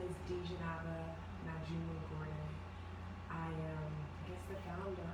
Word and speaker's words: Dejenaba: She had an interesting week, so I'm giving it to Miss Dejenaba Gordon. I said it right? Yes. Okay. Okay, I'm very pronunciation, so I'll make sure I got it right.